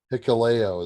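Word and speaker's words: Hikuleo: el phantasmo and picaleo picaleo is how you pronounce it against the dudes with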